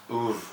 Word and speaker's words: Oeuvre: But it's more like or that's it. That's how some people pronounce it.